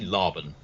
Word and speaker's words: Laban: Trinity Laban, yes. Oh, Laban, thank you. Laban's See? a rhyme with carbon.